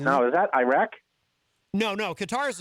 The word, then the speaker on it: Qatar: I think it would be Qatar, which some people in the media pronounce Qatar, which I find strange. I believe it would be Qatar because we do have